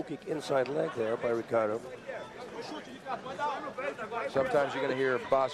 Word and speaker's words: Ricardo: inside leg there by ricardo sometimes you gotta hear bas Rutten say Ricardo sometimes I will say he Pardo in Brazil they pronounce the words that begin with an R with an H sound Ricardo wings in with